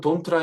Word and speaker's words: don't: 자, 여기서 제가 아까는 don't라 했고 지금은 don't이라고 했는데 그 이유가 뭐냐면 이